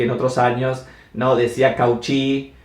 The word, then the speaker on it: Cauchy: Sé que algunos dicen Cauchy porque así es como se escribe. La forma literal es Cauchy, pero en realidad se pronuncia Cauchy, ¿sí?